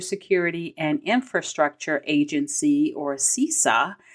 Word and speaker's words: CISA: and infrastructure agency or sisa cisa I think that's how they say it anyway they warned against